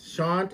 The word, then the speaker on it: Shant: Shant is the right name to say, the right way to say the name, Shant.